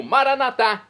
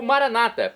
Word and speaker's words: Maranata: e agora eu clamo maranat do dialeto de Jesus pronúncia dos católicos ou Maranata pronúncia dos nossos irmãos separados das Comunidades evangélicas ou protestantes não importa pronúncia o significado é o mesmo vinde Senhor Jesus um dia